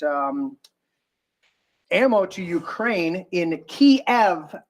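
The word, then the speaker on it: Kyiv: ammo to Ukraine in Kev which was called Kev forever but now somebody is calling uh ke or whatever ke because that's the way we want to pronounce it now um where they have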